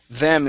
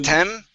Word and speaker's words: them: Them instead of tem. Give me a good th.